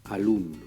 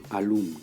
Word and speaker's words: alumno: Par exemple, le mot alumno, qui signifie élève. Sa syllabe tonique, c'est lum. Ça veut dire qu'on va prononcer alumno, alumno, alumno.